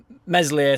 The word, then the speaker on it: Meslier: ] right story uh meslier silent s has been nominated for